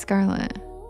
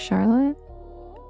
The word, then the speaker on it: Scarlet: Oh, yeah, it's Scarlet. Oh, you thought it was Charlotte? Wait, am I saying it wrong? It's Scarlet, right? That's a old calligraphy S, right?